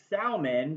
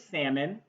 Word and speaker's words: salmon: described but pronounced as salman because of that heavy l i want to let you know i'll be the first to tell you that it is salmon the l was silent i guess so to